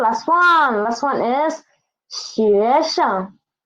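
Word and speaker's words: 学生: Last one is 学生. 学生. 西学学. Sheng, sheng. And sheng is the neutral tone, so pronounce it soft and quick.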